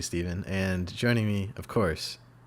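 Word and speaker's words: Stephan: My name's Steven. So the PH and an A. So you'd think it's Stefan, but it's actually Steven.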